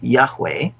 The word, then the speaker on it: Yahweh: Now, this is pronounced in Hebrew, Yahweh.